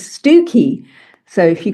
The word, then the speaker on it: Stiffkey: There's also a place in North Norfolk called Stiffkey, uh spelled, you know, Stiffkey, but the correct pronunciation is Stooky. So, if you call it Stiffkey, people look at you and go, "Hmm, you're not from around here, are you?"